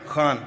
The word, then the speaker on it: Khan: Khan from the epiglotus.